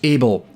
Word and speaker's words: ABL: In amongst this, is the Action Behaviour Language ABL, pronounced "able", which encodes not just